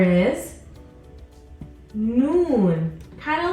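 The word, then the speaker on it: نون: Mike from Monsters Inc noon noon noon makes a sound no no this is the same as your n letter n Sound in English our next letter is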